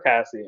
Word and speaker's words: Cassie: she's like she's drunk am i pronouncing it wrong is it casey or cassie it's cassie cassie cassie and lexy's mom is